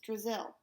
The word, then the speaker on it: Drizzle: Brazil rhymes with Drizzle.